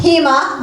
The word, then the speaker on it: HEMA: The San Diego Housing Emergency Alliance, HEMA, which rhymes with FEMA, by the way, that's purposeful, is dedicated to building such a movement, and I hope everyone here will join us.